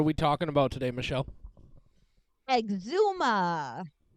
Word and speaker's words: Exhuma: talking about today Michelle Exuma not to be confused with eczema that's a different thing and it's not even spelled the same it's a totally different